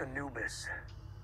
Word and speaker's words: Anubis: Anubis this is the Anubis Anis uh-huh it's pronounced anubus Egyptian god of the Dead mhm anus works